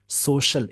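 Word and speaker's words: social: ऑन सोशल media, सोशल इस word का pronunciation याद रखेंगे, सोशल यानी श है।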